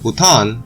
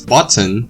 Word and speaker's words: Bhutan: Bordering China in the north and India in the south, Bhutan, or what Trump pronounced it as Bhutan, is well known for its unique temple architecture,